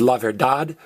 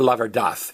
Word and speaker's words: verdad: D-A-D can be pronounced dad or dath. Like the truth is la verdad or la verdad. University is universidad or universidad, either one.